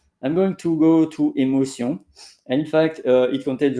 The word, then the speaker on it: émotion: Just my pronunciation is Émotion. émotion. So is not tion, émotion. Une émotion. Voilà, émotion. And that is totally different from English because in English it's emotion.